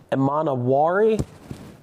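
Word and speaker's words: Emanwori: I'd say things how it's spelled. Defensive Rookie of the Year. Oh, Jesus. Carson Swessinger. from the Browns. Nick Emanawari.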